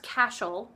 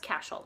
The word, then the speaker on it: Cashel: stuff those names by the way it is pronounced Cashel and I know that because Cashel is a